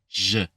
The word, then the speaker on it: je: G in English, but think of removing the D sound you would have in front of gentle, right? Je, gentil, for example.